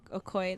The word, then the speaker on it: Okoye: Okoye, that's how you say it.